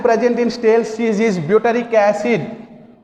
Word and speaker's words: butyric: Acid present in stale cheese is butyric acid. Butyric acid. B-U-T-Y-R-I-C. Butyric acid. B-U-T-Y-R-I-C. Butyric acid. Once listen pronunciation.